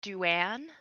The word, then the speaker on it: Dwayne: My character is, well, their name is spelled Dwayne, but they prefer Duan.